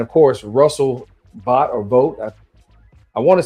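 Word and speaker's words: Vought: And of course, Russell Bot or Vote, I want to say he he says his name votes, although it's spelled B O I G HT, but Russell Vote, who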